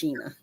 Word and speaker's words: Shana: Sheena but it's spelled like Sha but it's pronounced Sheena Sheena Sheena Sheena I will say it a